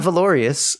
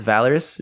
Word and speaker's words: Valorous: Not Valorious. It's Valorous. VAL.